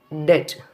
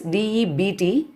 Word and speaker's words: debt: Next, debt. That is D-E-B-T in spelling, but you have to pronounce like debt.